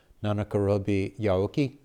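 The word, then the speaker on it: 七転び八起き: And somebody who speaks Japanese can correct my pronunciation. Nanakarobi Yaoki?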